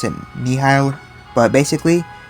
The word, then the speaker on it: Nihil: A lot of people pronounce it differently, but I pronounce it Nihil. But basically, Nihil.